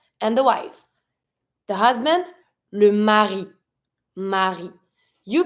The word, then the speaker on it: mari: have the husband and the wife the husband Mari Mari you pronounce every consonant here every vow or every